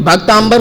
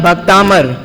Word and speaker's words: भक्तामर: connection ही नहीं है तो भक्तांबर कैसे हो सकता है वास्तव में भक्त अमर जिससे बना भक्तामर और ऐसा स्तोत्र ये है तो उच्चारण में आप लोग ध्यान रखेंगे अब वापस आ जाते